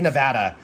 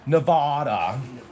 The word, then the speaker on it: Nevada: They like nobody knows how to say Nevada. They're like Nevada Nevada. Nevada. Everybody from Nevada is just like, "No, it's Nevada. Say it right. It's Nevada."